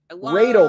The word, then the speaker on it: ratel: is a cool one the radel radel that's how you say it radel ratel bearded Dooms and Merry